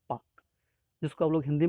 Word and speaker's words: Palk: Next देखते हैं, अगला है पाक स्ट्रेट। ध्यान रखिएगा, स्पेलिंग है PALK, लेकिन इसको पढ़ते हैं पाक, जिसको आप लोग हिंदी में जानते हैं पाक जल संधि या पाक जल डमरू मध्य।